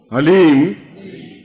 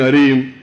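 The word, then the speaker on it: ह्लीं: से उच्चारण करने जाना एच ए एल ई ई एम हलीम कोई बोले हरीम कोई बोले ही तो कुछ फायदा नहीं होगा ह ली म हलीम ह आधा है ओम अभी बोलना ओम हलीम बगलामुखी सर्व दुष्टा नाम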